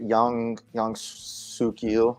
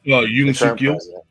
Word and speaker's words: Yoon Suk-yeol: See, I've been trying to put that together because they do 5 years, and was it Young Suk-yeol? I can't pronounce his name. Yoon Suk-yeol.